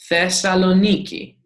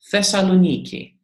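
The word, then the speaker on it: Θεσσαλονίκη: in Greece Thessaloniki Thessaloniki if you can read fare sow lo me key Thessaloniki you see the stress accent tells us how to pronounce the words in Greek so as you can see the stress accent is on the yoga so it is Thessaloniki Thessaloniki and this is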